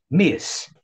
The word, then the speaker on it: Miss: Vai falar só com som de S. Miss.